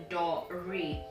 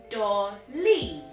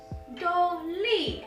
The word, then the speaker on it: Dolly: name that was annoying everyone called my name said my name as dory my name has no r it's so i was constantly telling people my name is daw lee dolly and they kept going door or something else or they were